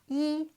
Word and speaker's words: 一: you can see here e is first tone however in this idiom in particular we pronounce it as fourth tone I don't actually know why it's just how we say it in this particular example as you learn more